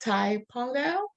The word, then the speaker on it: Thai Pongal: I've been informed I want to say happy Thai Pongal did I say it right thank you very